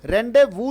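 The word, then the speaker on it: rendezvous: लो thank यूं सर क्या पढ़ा जाएगा का यह रेंडेवू उस पर आ जाएगा उच्चारण करेंगे फ्रेंड्स नहीं है यह रेंडेवू स यह चीज है वह साइलेंट रहेगा यह साल पहले सेंट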